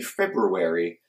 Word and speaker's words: February: learn at some point the word February has an hour where you don't think it is and it's actually February and most people don't